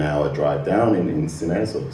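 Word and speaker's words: Sines: We're we're an hour drive down in in Sinez or Sing as it should be pronounced which is one of the largest um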